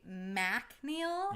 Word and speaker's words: MacNeil: spell it right yeah because it's Mac so I say MacNeil uh because I'm trying